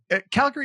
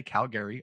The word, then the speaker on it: Calgary: Calgary is the same thing. People that aren't from here say Calgary all the time. Calgary. Yeah. They put the emphasis on the wrong syllable.